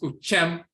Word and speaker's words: Uhem: In ancient Kamit, Uhem, which is pronounced Uchem, to repeat, narrate, to recount, tell a story.